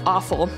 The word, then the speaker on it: offal: hate the term but they call it awful but it's spelled o-f-f-a-l parts of that game